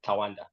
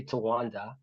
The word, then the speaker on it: Tawanda: So I'm not one of those people that, likes to overly correct people about how to pronounce my name. As long as you get the gist, like it's Tawanda. So some people say Tawanda, some people say Tawanda, so they're just different variations of how people say it.